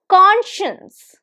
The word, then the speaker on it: conscience: And the pronunciation is conscience. Conscience. This pronunciation is like it's way too different, and I know that you must have pronounced it conscience at some point in your life, and this is not conscience. So this is conscience. There is sh sound. Conscience. Conscience. How many syllables? Very easy to recognize. 2 syllables. Conscience. And the stress is on the first one.